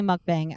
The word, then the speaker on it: mukbang: I guess I didn't realize, I assumed it was pronounced mukbang. Let's see. Mukbang pronunciation. Let's see. Oh, it's definitely mukbang.